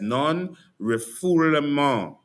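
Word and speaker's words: non-refoulement: Non rifool. That's how you pronounce it.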